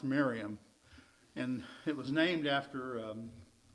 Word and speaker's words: Mariamne: It looks like Mariamne, and it was probably pronounced Miriam.